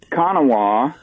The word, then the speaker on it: Konawa: rush and it's uh cona Oklahoma sorry about that I had to guess at the pronunciation well it's actually pronounced both ways and uh uh my